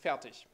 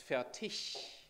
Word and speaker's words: Fertig: Because in German, in proper German, it's Fertig and not Fertig.